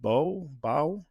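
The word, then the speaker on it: Baug: Uh and you had a gentleman by the name of Richard Bo. Did that work for you? Well, it's Paul, but it's spelled B A U G.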